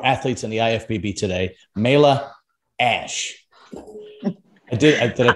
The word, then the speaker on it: Mayla Ash: All right, today I have one of the elite women pro athletes in the IFBB today, Mayla Ash. Did I pronounce it right?